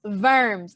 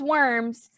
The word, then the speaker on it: Worms: funny name diet of verms now i know right here it says worms but in german these w's are kind of pronounced like v's so diet of verms diet also back then